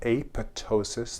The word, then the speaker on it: apoptosis: in a process called apoptosis. The P is silent.